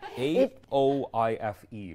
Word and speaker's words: Aoife: A-O-I-F-E. Exactly. In Irish, it's pronounced Aoife, but okay.